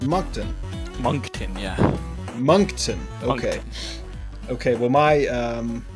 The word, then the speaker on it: Moncton: tells me is it moncton not moncton yeah moncton okay okay well my um yeah my my english background says that's spelled incorrectly but we're going to roll with